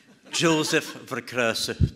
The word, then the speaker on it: Jozef Vercruysse: I will just first start to repeat my name, Jozef Vercruysse, to be no misunderstanding.